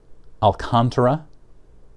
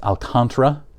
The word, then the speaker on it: Alcantara: name i pronounced it i took spanish for six years growing up it should be pronounced alcantara alcantara but somebody told me it was pronounced alcantara which doesn't make sense but i researched it